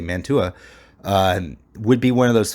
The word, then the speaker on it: Mantua: Solomon Rossi's family would have been one of those families that remained, and Mantua, I think is how you pronounce the name of the city in Italy, Mantua, would be one of